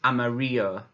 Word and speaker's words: amarillo: In Spanish, where you see the two L's together, or two U's together, is actually pronounced as a Y sound. So yellow in Spanish is amarillo, amarillo, amarillo, amarillo, amarillo.